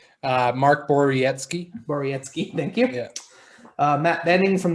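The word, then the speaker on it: Borowiecki: out that polish name that i couldn't uh pronounce uh mark borietzky borietzky thank you matt benning from the oilers nick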